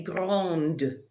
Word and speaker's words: grande: Il est grand, elle est grande. I hear the D if I add an E to it to make it feminine.